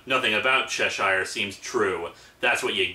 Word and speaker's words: Cheshire: And yes, I know, the proper pronunciation is Cheshire, but it's just I've been saying it for years as Cheshire, so I'm kinda stuck with it.